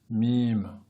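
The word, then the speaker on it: ميم: mime s'écrit comme cela on va l'écrire en phonétique comme ceci m im mime et elle va produire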